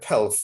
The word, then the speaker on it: pelf: I used it to rhyme with self, and it means money, basically.